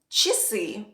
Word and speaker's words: часы: I'll repeat it again a is pronounced like e after CH or sh if it sits in the first pretonic syllable in other words in